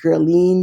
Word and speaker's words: Guerline: my name is until you smile again Guerlain usually in english pronounced me and my husband or the owners